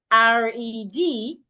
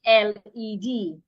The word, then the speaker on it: red: I've met people that when they want to pronounce words with letter R they will pronounce words with letter L. For example, when you want to say a word like r e d, you will end up saying the word l e d. Instead of saying, excuse me, instead of saying red, you will say led.